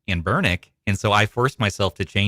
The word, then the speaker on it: Anbernic: We had Lee on and he was pronouncing Amber Bernick how they're how you actually say their name, which is And Bernick.